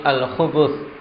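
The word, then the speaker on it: الخبث: Wal khubuth bidhammil ba, ini caranya membacanya khubuth, ya, bukan khubuth, bukan khubthu, tapi al-khubuth dengan mendhammah ba-nya.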